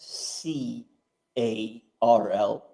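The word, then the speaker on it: Karl: No, because it's the K, it's not the soft C A R L. So yes, it's but how would you Carl, which is a Carl. It's softer if it's a C, harder if it's a K.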